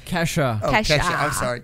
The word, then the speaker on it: Kesha: Keisha. Who's Keisha? Did I say her name wrong? What's her name? Kesha.